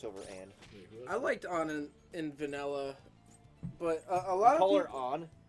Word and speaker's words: Ann: I thought you were talking about Lady Anne. It's pronounced Eni.